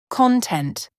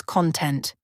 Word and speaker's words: content: For example, content, happy, versus content, something inside a container.